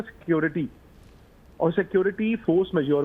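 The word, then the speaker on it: force majeure: मुझे फ्रेंच आती नहीं इसको प्रोनाउंस कैसे करते हैं इसको कहते फोर्स मेजर ये कांट्रैक्ट में होता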